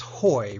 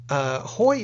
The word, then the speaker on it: Haughey: Haughey is not how I would have pronounced it. No, it's got 7 letters and it's only 1 syllable.